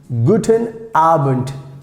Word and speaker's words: guten Abend: is very useful like guten abend guten arbent guten albert uh sometimes like most of times we pronounce like t this d if it